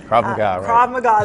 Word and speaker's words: Krav Maga: Krav Maga is how you say it.